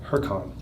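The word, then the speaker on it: Huracán: Huracan. That's how we pronounce it.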